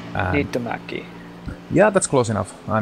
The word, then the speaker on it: Niittymäki: It's Mikko Niittymäki, because just in case you don't know how to pronounce his last name, it's quite difficult. Niittymäki.